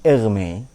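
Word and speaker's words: Hermès: cuma beda cara bacanya Ya kalau ini merek tas Perancis Hermes ini er Me kalau Hermes dalam arti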